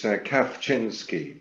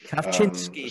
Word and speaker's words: Kawczynski: Daniel, how do I pronounce your surname? I always get it wrong. Yeah, don't worry. It's Kawczynski. Kawczynski.